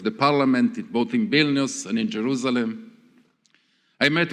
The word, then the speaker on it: Vilne: and others that place call it Vilnius pronunciation vilne does have meaning now one